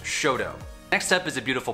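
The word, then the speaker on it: Chouteau: have french names but we don't say them with a french accent we say them with a very americanized pronunciation and i'm going to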